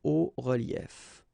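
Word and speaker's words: hauts-reliefs: then it's quite simple, because S and S, but then we don't pronounce them here. Des hauts reliefs.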